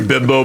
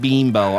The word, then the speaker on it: Bimbo: push so hard that it's pronounced Beimbo. I'm like, no. Nope. That shit's bimbo. you. It's Bimbo.